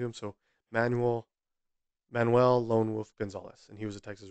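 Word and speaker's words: Gonzaullas: I believe it's pronounced Gonzalez. It's a spelling I've never seen before, G-O-N-Z-A-U-L-L-A-S. If it's pronounced a different way, let me know. I'm not sure. I'm going to say Gonzalez. He was known as, quote, Lone Wolf.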